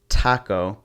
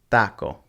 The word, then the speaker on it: taco: sound just like that so it wouldn't be taco it's taco vowels are always the